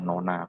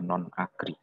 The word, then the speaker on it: non-agri: Kemudian ada non-agri, ini bukan nona begitu, bacanya non-agri. Non-agri alang-alang, non-agri semak belukar, Itu untuk alang-alang, untuk semak belukar, kemudian kebun sama ladang.